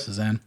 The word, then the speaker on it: Cézanne: Is that how you pronounce his name? Yep. Cézanne. It's owned by a member of the Qatar royal family, Al Thani or something like that.